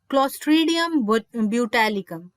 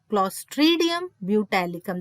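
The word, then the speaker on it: Clostridium butylicum: क्लोस्ट्रीडियम ब्यूटैलिकम, क्लोस्ट्रीडियम ब्यूटैलिकम, this is the pronunciation, ठीक है जी।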